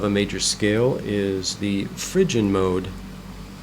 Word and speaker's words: Phrygian: major scale is the Phrygian mode some people pronounce it Phrygian you